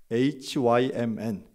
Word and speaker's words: hymn: 쓰지만요 노래로 하는 찬양을 hymn 힘이라고 합니다 이게 우연인데 한국의 힘과 발음이 똑같아요 여러분 하나님을 찬양하는 것이 저와